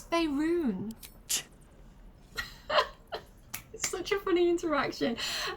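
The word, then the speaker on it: Faerûn: on matters of this F run no no it's fyon such a funny interaction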